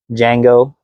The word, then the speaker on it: Django: Have you seen uh Django, but the D is silent?